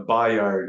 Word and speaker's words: Byard: the right pronunciation uh Bayard is actually how it would be properly pronounced by the yard byard yeah got it